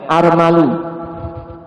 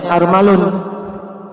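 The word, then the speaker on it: أرمل: Armal walaupun wazannya af'al, ya armalu. Kita membacanya armalun.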